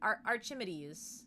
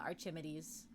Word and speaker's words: Archimedes: You know, I think it's like I said, how did I pronounce it? Archimedes. Yeah, Archimedes. Cause I thought it might be like Archid. But then I was like, I don't think that doesn't sound right. So I went with Arch.